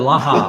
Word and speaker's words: Yalaha: Yalaha.